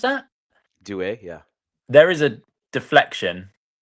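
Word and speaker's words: Doué: Is that Doue? Is that how you pronounce that? Doue, yeah.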